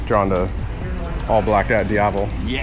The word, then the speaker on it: Diavel: I mean, obviously drawn to all blacked out Diavol. Yes. How do you say it? Diavol? Diavel? I say Diavol. It's Italian, right? It is. Diavel. Yeah, Diavel. Yeah.